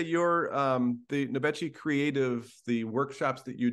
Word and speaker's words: Nobechi: And today we have Nobechi. I think I messed up that pronunciation.